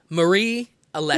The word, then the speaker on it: Marie Alessi: Marie Alessi.